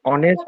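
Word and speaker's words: honest: উচ্চারণ স্যার ও হচ্ছে এক্সাক্টলি তুমি যে অনেস্ট বলেছ অনেস্ট উচ্চারণটা হবে অনেক অ এর মতন হয়েছে।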